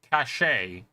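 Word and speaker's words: cachet: So it's basically like a hidden thing and it is definitely pronounced cashache. Uh cash and cashache uh share a common French root but they are pronounced differently as they have two different meanings.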